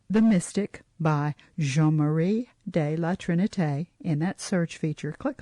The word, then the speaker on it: de la Trinité: So I really worked at pronouncing La Trinité, de la Trinité.